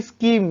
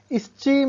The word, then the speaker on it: scheme: वैसे ही स्कीम, यहाँ पर भी SCHEME, अब CH साइलेंट है, स्कीम। इसे हम स्टीम नहीं पढ़ेंगे, स्कीम पढ़ेंगे।